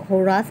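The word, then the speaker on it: Pharaohs: The first hurrah, अच्छा यहाँ पे जो वर्ड लिखा हुआ है ये, तो यहाँ पे पी जो है साइलेंट है, ठीक है, पी साइलेंट है। तो हुर्रास पढ़ेंगे।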